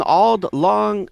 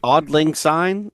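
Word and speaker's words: Auld Lang Syne: All right, let's say sing odd lang. Yeah, oddlings. Is that what the how it's pronounced? Odd lang. Yeah, odd lang.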